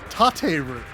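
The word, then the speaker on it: 立てる: But then if you were to stand something up, it would be tateru.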